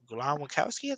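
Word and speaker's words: Glowinski: You got a Mark Glowakowski, that's how you say his name is.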